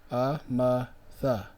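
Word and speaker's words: אמת: It's written out in the Syrian script, Amatha. Amatha, which how they pronounce it is Amath.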